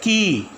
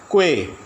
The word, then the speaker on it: quay: Second, key, a place for landing and a place for loading and unloading ships, quay.